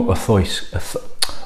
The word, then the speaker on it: Auchroisk: And it's more Auchroisk than Auchroisk. It's less of the kr and more of a th sound. So it's more Auchroisk, Auchroisk even.